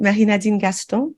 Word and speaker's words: Nadine Gaston: So I'm French pronunciation, right? Nadine Gaston, but Nadine, I go by Nadine for short.